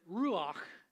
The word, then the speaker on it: ruach: And to pronounce it, it's kind of like that chesed. It's got that CH sound in Hebrew that is a cross between the C and the H, and you get that guttural sound, and so this